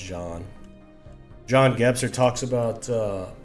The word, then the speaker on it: Jean: Jean gser talks about I always say Jean but I think it's actually pronounced John John gser talks about